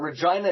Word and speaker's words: Regina: of going to Regina but Regina it rhymes with fun after two years they